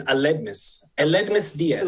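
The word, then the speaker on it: Aledmys Díaz: Eldimas Diaz, is that how you pronounce it, Mr. Ratner? The way I say it is Aledmus Diaz.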